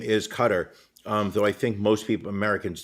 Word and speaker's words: Qatar: In all honesty, I believe the name is Qatar, though I think most Americans do call it Qatar. They put the emphasis on the second syllable, though I believe the proper pronunciation has it on the first.